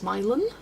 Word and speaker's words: Milan: Near me there's a Milan, but it's pronounced Milan.